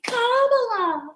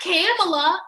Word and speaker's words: Kamala: wrong and they're like it's kamala because like it's not camella it's not carmela look i still ain't